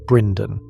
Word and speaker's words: Brynden: Opposing him was Brynden Rivers, known as Bloodraven, pronounced Brynden, pale, calculating, and utterly loyal to Daeron II.